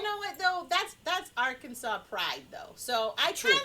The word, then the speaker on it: Arkansas: and stupid like call arkansas arkansas yes or our kansas yeah our kansas it is nothing that wouldn't be our kansas but it would be our kansas no a-r-r kansas but but our kansas or arkansas as it's really called if you pronounce it